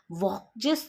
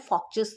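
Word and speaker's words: Volks: देते हुए सेविग ने वक्स थ्योरी या जिसको हम प्रॉपर प्रोनाउंस करते हैं फॉक्स थ्योरी दी थी जी हां फॉक्स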